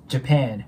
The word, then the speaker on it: Japan: 音のボイになるんでジャパン JAPAN こんな感じになりますなのでもう一度通して発音してみると When was the